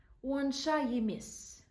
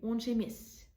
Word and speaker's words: онша емес: But if you make it more, like, if you want to pronounce it more fluently, you say онша емес. You see? So the sounds change a little bit and we say онша емес.